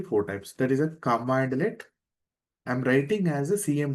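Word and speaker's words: cmdlet: There is a commandlet I'm writing as a cm delay but pronouncing as a command alias sorry my mistake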